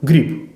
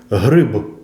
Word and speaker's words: гриб: не є обов'язковим наприла Ви чуєте російською гріб а от українською Вам доведеться вимовити приголосний наприкінці слова чітко і для цього ми маємо добряче штовхнути повітря м'язами діафрагми гриб дзвінки приголосні в літературній